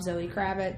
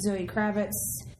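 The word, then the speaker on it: Zoë Kravitz: of like a knockoff Zoe krabit discount Zoe krabit yes say it right there discount Zoe krabit just count Zoe Kravitz you know and I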